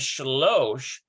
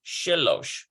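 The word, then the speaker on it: שלוש: Now here is shalosh. And look at this. We've got a full shalosh and it changes to shilosh. So it's like it reduces the vowel.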